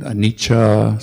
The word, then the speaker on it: anicca: And then Anicca, so the double C is Cha, and then Vata, Sankhara, Upadavaya, Vaya, Damino, etc.